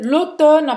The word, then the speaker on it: automne: Esse M não tem razão de ser aí, que a gente não pronuncia ele, né? É mudo, o M é mudo.